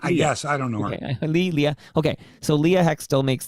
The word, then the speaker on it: Leah: Leah.